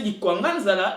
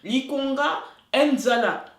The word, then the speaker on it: Likwanganzala: Et au lieu de le prononcer Likwanganzala, il va le prononcer Likonga Nzala.